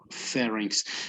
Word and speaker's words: pharynx: Pharynx.